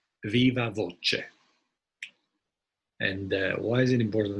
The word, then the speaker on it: viva voce: it's often pronounced the closest we have to latin is italian so it would probably be something like viva voce and why is it